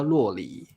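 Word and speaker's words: 酪梨: ，我们叫洛梨。洛梨洛梨，奶酪那个奶酪的那个，那个我们念，但是发音是洛。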